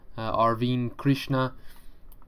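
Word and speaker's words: Arvind Krishna: here are obviously words from none other than arvine krishna that's right that's how you say it folks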